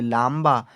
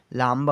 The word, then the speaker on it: लंबा: लांबा। लांबा उच्चारण सही है? गलत है। सही उच्चारण लंबा है।